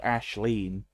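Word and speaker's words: Aisling: slagging off English people Ashley ashleen ashleen but it's spelled aeling ashleen like e or um Charlene Laurene ashleen yeah that's the the Irish spelling of Ashley a i s l i n g even though there's no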